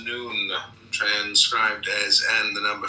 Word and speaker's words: Nun: Nun pronounced noon, transcribed as and the number 50, meaning fish, the imaginative intelligence.